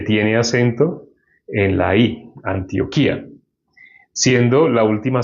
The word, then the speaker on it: Antioquía: Entonces, bueno, aquí tiene tilde en la I. Entonces dice Antioquía. Ahí sucede yato. Antioquía. Ah, no es diptongo. Antioquía, pero tiene el acento en la I.